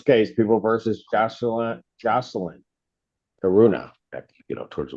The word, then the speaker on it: Caruana: Torture fees the first assistant public defender on behalf of Miss Caruana.